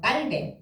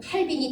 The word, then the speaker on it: 칼뱅: 개혁 신학의 아버지가 되시는 어 깔베 옛날 발음으로는 칼빈이 되시는 그분께서 처음에 제네바에서 목회를